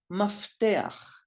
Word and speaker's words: mafteach: When the pei doesn't have a dot or the gesh in the middle, it sounds like F in English. And the example is mafteach.